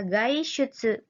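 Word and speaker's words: 外出: Nah, tadi deguchi ya minasang, masih dibacanya D ya. Sekarang bacanya berubah ya, gaishutsu.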